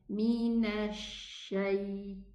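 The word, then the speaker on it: شيطان: It's a mixed sound between the sheen and the seen, while it should be pronounced from the middle part of the tongue, Mina shaitan.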